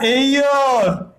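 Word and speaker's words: heir: बट ये वाला जो है ये क्या है बेटा, एयर।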